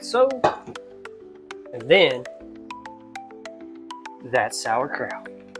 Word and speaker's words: sauerkraut: I mean, I know it's sauerkraut way you say it, but it's s a u e r, not s o u r.